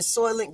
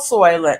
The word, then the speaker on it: Soylent: And the population was so thick that they were feeding these people these little green squares, and they called it Soylent Green.